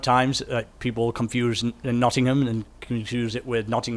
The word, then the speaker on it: Nottingham: say it properly not nottingham so it's not nodding ham no okay do you